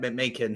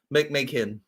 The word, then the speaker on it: McMeekin: That's how you say it, McMeekin. He's the one name that's been outdoing me in these English ones. McMeekin.